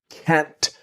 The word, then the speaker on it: can't: I just can't. Always very important. The T in can't never disappears.